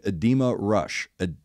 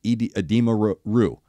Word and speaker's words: Edema Ruh: Edema Rue. Why did I say Edema Rush? Edema, wasn't there a band in the late 90s, early 2000s, but it was spelled with an A, Edema, right? Like, I'm not crazy thinking that, and I think that's why my brain confused the two.